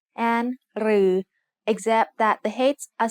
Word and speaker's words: รือ: รือ is pronounced like a combination of รอเรือ and the long vowel สระอือ They are both written like the letter ถอถุง with an extra long line.